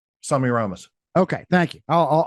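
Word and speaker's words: Semiramis: Um, do you say, let me ask you pronunciation. Do you say Samirus or Semi Ramas? Sami Ramos.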